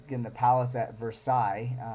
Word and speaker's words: Versailles: of me, but we have a town called Versailles. It's spelled the same way. It's too bad, sorry we don't pronounce it well here, but correct pronunciation is the Palace of Versailles.